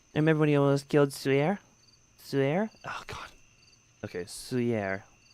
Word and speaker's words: 翠儿: Swear is how you pronounce that name. Swear. Okay. Yeah, everyone's terrified of Master Xing. Remember when he almost killed Suyer?